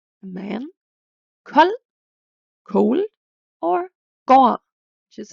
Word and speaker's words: kold: This equals a silent D, which means D is never pronounced after these consonants. An example could be man, a man, kold, cold, or gård, which is a farm.